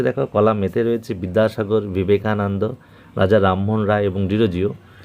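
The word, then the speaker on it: Vivekananda: ঠিক আছে, বিবেকানন্দ, এখানে বিবেকানন্দ হবে, কিন্তু আমরা বিবেকানন্দ বাংলায় উচ্চারণ হলেও কিন্তু বিশেষ বিশেষ যারা খ্যাতনামা ব্যক্তি, বিশেষ বিশেষ ব্যক্তিবর্গ, প্রপার নাউন, তাদের ক্ষেত্রে কিন্তু ভি দিয়ে শুরু হবে, বিবেকানন্দ।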